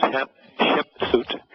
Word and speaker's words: Hatshepsut: Hatshepsut and Thutmose II, his daughter was Hatshepsut, or Su, you don't always pronounce the T, which he would be, according to them, in 1479.